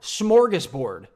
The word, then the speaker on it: smorgasbord: more morges Borg smart smorgasbord is how you say it by the way for